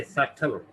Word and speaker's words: subtle: क्या साइलेंट है, बी। क्या पढ़ेंगे इसे, सटल, सटल, सटल। बी की आवाज नहीं निकलेगी।